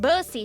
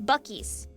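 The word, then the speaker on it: Buc-ee's: Me thinks it's pronounced busy. Shut the hell up. It's Bies. It's Bies. It's not Bussies.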